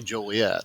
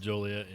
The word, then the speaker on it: Joliet: I was told that that's the way you're supposed to say Joliet instead of Joliet I've been saying it wrong no wonder nothing ever